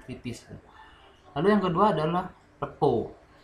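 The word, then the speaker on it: rapport: Lalu yang kedua adalah repo. Kalau tulisannya bacanya raport ya, report itu ya. Tapi kalau misalnya banyak kalangan kita sih manggilnya repo.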